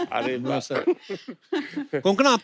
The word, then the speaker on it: कोंकणा: हमारे पर मुझे लगता है कोंकणा, आपको जब अलग अलग स्टेट के लोग मिलते हैं तो वो आपका नाम सही से प्रोनाउंस करते हैं। आई एम श्योर अगर आपको कोई पंजाबी मिले, वो हमेशा कंकना बोलेगा।